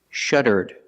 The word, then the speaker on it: shuddered: If I change the verb in the past, I put ed and I pronounce it like this. Shuddered, shuddered, with a D sound at the end.